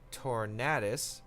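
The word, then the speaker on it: Tornadus: interesting composition Kyogre dialga tour natus or tornadoes how have you like to pronounce it torn 8 torn tornadoes because like the tornado yes I don't think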